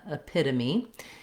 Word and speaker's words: epitome: So in this case, when we have the T, it'll sound more like a D, pita, epitome.